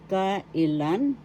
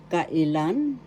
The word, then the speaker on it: kailan: in english ka ilan kailan first syllable ka second syllable e third syllable lan kailan third syllable is where the accent is so that you will